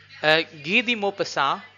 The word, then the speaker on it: Guy de Maupassant: Guy de Maupassant, this is the French pronunciation of his word.